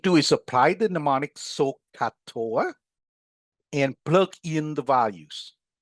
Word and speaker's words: SOH CAH TOA: We write SOH and we pronounce it so. For cosine, C, A, and H. Pronounce CAH. For tangent, T, O, and A. Pronounce TOA. Put together, SOH CAH TOA.